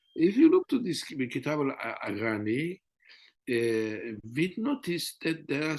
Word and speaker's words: Kitab al-Aghani: I don't know if I pronounce well, Kitab That's perfect. Yes. al-Aghani. And if you look to this Kitab al-Aghani, we noticed that there are some Farsi singers, sorry, Mm.